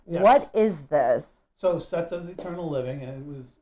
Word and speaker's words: setas: So setas eternal living, and it was setas is proper Spanish pronunciation for mushrooms.